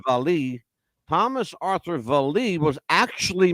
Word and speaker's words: Vallee: that Thomas Arthur Vallee, and that's how his name is pronounced. I thought it was Vallee, but Mhm. it's Vallee.